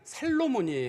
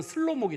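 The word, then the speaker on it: שלמה: 슬로모인데 요거를 라틴식으로 이름을 불 부르면 살로몬이에요, 이름이. 근데 이걸 영어로 부르면 솔로몬이에요. 그래서 히브리어식 이름으로는 이스라엘 사람들에게 가서 너희들 솔로몬 아라 그러면 이스라엘 사람들은 솔로몬을 몰라요. 이게 이스라엘식 이름으로는 슬로모기 때문이에요. 슬로모기 때문인데 영어식 이름이 솔로몬이거든요. 그래서 솔로몬이 대체 그 대세적 이름이 돼 가지고 솔로몬이라 이름으로 불리는 거예요. 원래 히브리식 이름은 슬로무입니다.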